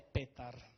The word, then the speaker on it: Petar: Allora, diciamo che il mio vero nome è Petar. Petar. Qua mi chiamano tutti Peter. Come quello di Heidi. Io sono rimasto Peter, ecco. C'è chi mi chiama Piero, chi Peter, chi Petar.